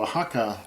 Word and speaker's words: Oaxaca: Mondays and Thursdays so Oaxaca doesn't look like you would pronounce it that way but that's the same